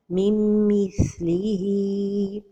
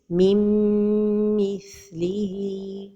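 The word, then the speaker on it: من مثله: The first mistake is to pronounce it idgham without a time for the ghunnah, min mithlihi. Another mistake is to pronounce the noon, min mithlihi. And the noon is not pronounced when the idgham is with the letter mim. So the right pronunciation is mim mithlihi without pronouncing noon.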